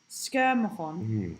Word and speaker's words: Schermerhorn: Okay, I took my daughter to see Frankie Valli in Nashville from Atlanta a few years ago the Schermerhorn how do you say that? Schermerhorn Schermerhorn the Schermerhorn was gorgeous.